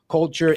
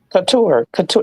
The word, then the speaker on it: couture: So shout out to my man Gaming, Culture, and Sid. Now, did I pronounce that wrong again? Couture. It's couture. Like hot couture.